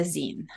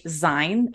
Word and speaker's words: Zine: of people will say design which is why I called this show Creative Design because if you don't know how to pronounce it you'll say design pun intended but a